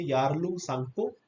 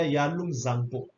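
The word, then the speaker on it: Yarlung Tsangpo: हम लोग कहते हैं यारलुंग सांगपो या यारलुंग जांगपो. आप इसे दोनों प्रोनाउंसिएशन कर सकते हैं, जो आपको सुटेबल रहे आप ऐसे कह सकते हैं.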